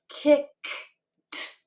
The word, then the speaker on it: kicked: I don't feel a vibration with that k sound at the end.